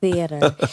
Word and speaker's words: theater: Theater. Just forget about the A. I think if Okay. you say it quickly, If theater. I just pretend it's spelled Theeter. Yeah.